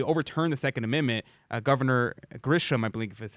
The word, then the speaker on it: Grisham: Governor Grisham, I believe is how you pronounce her name.